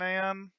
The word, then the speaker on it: NaN: So let's check it's type, print the type off math dot nan or nan people call it different things, and it is a